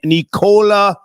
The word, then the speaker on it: Nikola: How do you pronounce his name? Nicola.